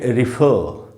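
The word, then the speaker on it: refer: तो British English में तो इसको बोलेंगे रिफर।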